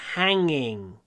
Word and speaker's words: hanging: Вот это слово, потому что можно произносить, не только можно, а нужно произносить это слово с открытым ртом.